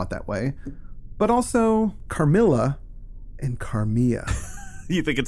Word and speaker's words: Carmilla: Carmilla, so you settled on pronouncing it Carmilla, finally?